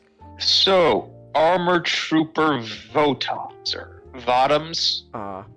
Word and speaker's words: Votoms: armor Trooper voto or votoms cuz it's supposed to rhyme with bottoms but you know um